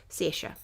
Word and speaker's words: Saoirse: And she calls herself, I think there are two different ways of pronouncing it. And she calls herself one thing, but this is Saoirse. Anyway, that's how you say it.